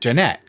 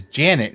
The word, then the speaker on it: Jeanette: In the videos, defendants mocked Jeanette, mispronouncing her name as Janet instead of Jeanette.